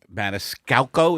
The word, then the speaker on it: Maniscalco: Maniscalco, he didn't do much, but Maniscalco, is that how you say his name? Yeah.